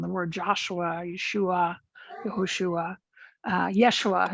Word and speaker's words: Yeshua: word joshua yeshua yahushua yeshua is probably how it would be pronounced in in aramaic in the area at the time and so sometimes you